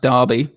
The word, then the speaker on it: Derby: It's pronounced Derby.